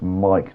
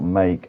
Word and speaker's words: Mike: me the whole time, his name's pronounced Mike, not Make, as Charlie Goff has gone top of the leaderboard here, Ryan.